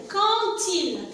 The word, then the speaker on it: quand il: alors pour ce mot-là, alors le D, ça se prononce T ici. Et je fais la liaison entre le D et il, ça donne til. Quand il.